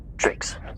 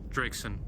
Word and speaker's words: Drakeson: You're getting my last name wrong. Pardon me. Drakeson. Lieutenant Drakeson, sir.